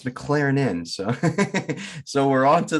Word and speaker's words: McLernon: of jonathan mclaren i asked him how to pronounce his name and i thought is this like mclaren he goes no it's mclaren in so so we're on to the right something